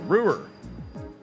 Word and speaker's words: Ruhr: I think that's how they say it, Ruhr. I always want to go with Rower, but they're like, Ruhr.